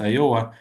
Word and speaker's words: Iowa: This is how we say it in Russian with a stress on the second syllable. Yeah, so it should be Iowa.